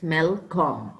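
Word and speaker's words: Malcolm: son okay who is he he is please pronounce these words with me when I say them it's melcom okay melcom so here's Duncan's Elder son and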